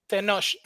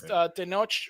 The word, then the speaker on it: Tenoch: How do you say his first name? Tenoch. Tenoch. Okay. Tenoch. It's I think it's origin Toltec, but it's Tenoch, which it's the city of Mexico City is Tenochtitlan.